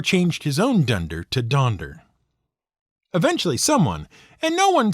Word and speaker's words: Donder: the right spelling since almost everyone was pronouncing it donder with an o and not a u so he changed that